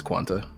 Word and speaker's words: Quanta: Quanti. Quanta? Oh, is it Quanta or Quanti? How the fuck do they pronounce it? Because Japan's weird sometimes. It's Quanta. It's Quanta.